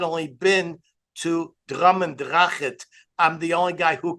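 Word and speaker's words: Drumnadrochit: I'm the only guy in America who has not only been to Drummendrachet, I'm the only guy who can pronounce the name correctly. Not correct, Zalmi? How did I do? Very good. Drummendrachet.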